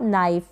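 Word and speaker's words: knife: इसको आप कैनाइफ ना पढ़ें, के साइलेंट है, एन से पहले है, तो इसको पढ़ेंगे आप नाइफ।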